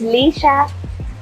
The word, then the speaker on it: Leshurr: Pronounce that name for me. It's Leshurr. Leshurr? Yeah.